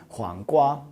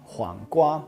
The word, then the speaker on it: 黄瓜: First of all, we can pronounce it. It would be 黄瓜, 黄瓜.